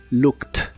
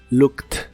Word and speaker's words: looked: corta y explosiva y la Ed del final se pronuncia como si fuera una t looked looked en el pasado lo